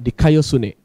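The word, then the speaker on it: δικαιοσύνη: itu ya di kayosini di kayosini dalam pronounce erasmian di kayosune ya di kayosini artinya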